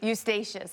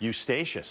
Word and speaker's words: Eustatius: Eustatius. Eustatius. Is that what that is? Thank you for teaching me that. St. Eustatius, tropical storm watch is out for this area and through here.